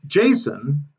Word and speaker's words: JSON: on here this is in a format called Json which is spelled actually j-s-o-n and Jason is um something that